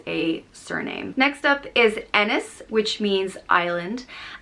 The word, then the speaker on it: Ennis: surname next up is ennis which means island it's spelt e-n-n-i-s and it's pronounced like dennis without the d e niss ennis and